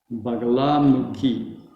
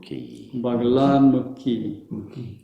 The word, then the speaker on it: Bagalamukhi: But the U is not a long U. It's not mukhi. It's mukhi. Bagalamukhi. Again, Bagalamukhi.